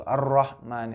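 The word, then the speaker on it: الرحمن: Ar-Rahman, ro-nya tuh harus jelas.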